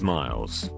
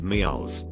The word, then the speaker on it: Miles: dude whose name was Miles he introduced himself to me in front of a group of people saying hey my name is Miles but he pronounced it meals like it was two separate syllables I commented how I'd